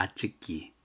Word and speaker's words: очки: 아츠키 또 아구레츠입니다.이 아츠키는 안경이고 아구레츠 하면은 5인데 왜 5를 아로인 발음하느냐면은 엑센트가 없기 때문에 r로 해야 됩니다.